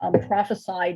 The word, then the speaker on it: prophesy: lift up the book, prophesy deliverance. When you make it a verb and you spell it with an S and you pronounce it prophesy, that's an early book